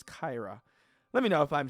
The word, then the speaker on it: Kaira: I keep trying to mention it as Kara. I don't. It's not Kara, right? It's Kaira.